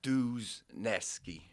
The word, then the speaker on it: Dluzniewski: right so first of all how do you pronounce your last name is it dusnewski um Americanized we've I always said dues nesky news now if you wanted to be ethnic